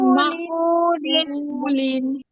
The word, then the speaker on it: مأكول: كعصف মাকুলিন আবার كعصف معقول আচ্ছা, লাস্টের শব্দটা মা কুল হবে না, মা হামজার মধ্যে জজম হলে হালকা একটু কেমন ধরো ধাক্কার মতো উচ্চারণ হয়, মা মা কুলিন মা কুলিন।